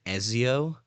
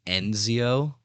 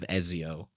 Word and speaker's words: Ezio: Assassin's Creed Ezio yeah I pronounced his name enzio and I got flamed I got flamed on Tik Tok for it by people by random people they were like no way this guy said enzio instead of Ezio yeah